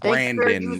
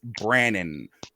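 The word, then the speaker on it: Brannon: will I will tell you this it's not Brandon well it's Brandon be RA NN o n you know like people mispronouncing your nickname don't mispronounce his real name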